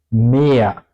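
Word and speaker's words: mehr: Aquí tenemos una vocal, una I antes, por eso la H tiene solamente el efecto que la vocal antes suena larga, ¿ok? Por eso no se pronuncia la H. Mea. No digo algo como mejor. Eso es difícil para nativos alemanes. Digo mea. Solamente hace la vocal más larga.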